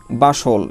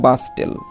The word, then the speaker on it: bustle: আসলে আমরা যদি আমরা এই উচ্চারণটা না জানি বা এরকমের রুলস না জানি, তাহলে আমরা উচ্চারণ করবো বাস্টেল, ঠিক আছে। তাহলে এটা তোমার ইনকারেক্ট একটা উচ্চারণ হবে, যার উচ্চারণটা সঠিক নয়। তাহলে আমরা কি বলবো? বাসল।